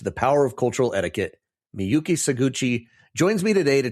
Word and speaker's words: Miyuki: I struggle with it, but Miyuki, welcome to the show.